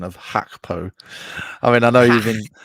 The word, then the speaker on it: Gakpo: Luke the main man hackpo I think is the better Dutch pronunciation I'm scarce so it's